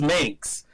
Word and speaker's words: Minx: let me just clarify they say the links and it's not the mix it's just minx somebody i did an